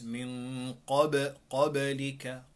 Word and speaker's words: min qablika: The right way to say it is min qablika, qablika. What is the difference? The second way is that you applying the qalqala.